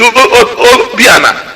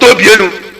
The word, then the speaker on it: Obiana: the one in America, say his name is Obiana, not Obienu, that they are compromised.